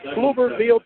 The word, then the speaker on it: Pflugerville: We are in Pflugerville, Texas, spelled with a P, as we are ready for the first round of the playoffs between the Hempstead Bobcats and the Luling Eagles.